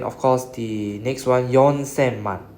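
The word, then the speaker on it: 四千: So 4,000 in Japanese is Yonsen.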